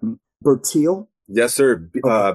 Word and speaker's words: Bertil: Um, you mentioned, and if I'm saying her name wrong, forgive me. Correct me. Bertil.